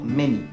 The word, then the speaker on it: many: Attention aux exceptions, par exemple, le A se prononcera A dans yacht, ou encore O dans wrath, et A se prononcera E dans Thames, any, ou encore many.